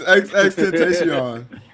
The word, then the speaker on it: XXXTentacion: It's XXXTentacion.